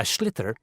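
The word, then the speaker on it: sliotar: you have to get this ball called a schlitter that's s l i o t a r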